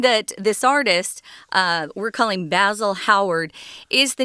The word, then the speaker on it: Basil: characters in the book, but we're pronouncing it differently than we would in America. Oscar Wilde was Irish, but anyone in the UK in general, even today, they pronounce this word basil, and we say basil, which is an herb that you cook with.